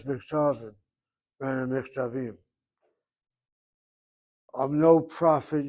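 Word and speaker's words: מכתבים: The only thing I would make a comment about is hit the last syllable. You read it as Haim Kotvim Michtavim. Should be Michtavim.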